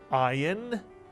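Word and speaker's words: ayin: it's a y sound the ion is one of the two Hebrew letters that is silent and the other silent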